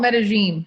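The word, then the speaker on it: Medellín: So the locals call it Medellin. Medellin.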